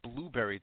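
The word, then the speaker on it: Blubrry: hear our interviews on I think it's pronounced I won't always want to call it blueberry.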